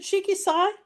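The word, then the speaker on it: Shiki-Sai: Is it Shiki Sai?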